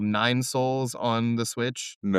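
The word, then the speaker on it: Sols: Have you heard of this game called Nine Souls on the Switch?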